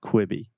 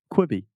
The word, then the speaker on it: Quibi: myself McCoy sir quit be quiet be almost kwibi quit be there we yeah good we be quite be there yeah okay so before anything else this is a great platform to practice your pronunciation kwibi kwibi kwibi cool so first of all I